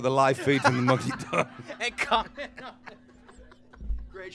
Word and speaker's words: Mucky Duck: Oh, the Mucky Do. She didn't get that. The Mucky Duck. Listen, I'm saying it right. You Americans are all saying it wrong. I say it right. It's the Mucky Duck.